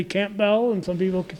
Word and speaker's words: Campbell: and some people say Campbell and some people can say Campbell and I think the Camp Bells they pronounce it with the p sound and Campbell family's still